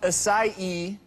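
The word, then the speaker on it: açaí: So the berry's pronounced acai, even though it's spelled A-C-A-I.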